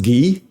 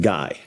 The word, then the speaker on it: Guy: nora it's actually pronounced gui i know it looks like guy but it's pronounced gui uh i don't know